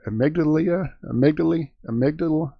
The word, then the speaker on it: Amygdala: Amygdala.